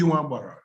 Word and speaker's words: Nwagbara: Nwagbara. initials. Chief Nwagbara. Nwagbara is spelled N-W-A-G-B-A-R-A.